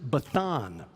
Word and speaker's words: Bashan: another interesting point in eugeridic scholars have figured out that bashan would have been pronounced bethan they vocalized the same consonant in a different way instead of it was